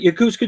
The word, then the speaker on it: Yokosuka: I've been practicing Yakuska and how you guys met and how you got into RVing and into YouTube. Well, you said it right. Yokosuka, Japan is where we met.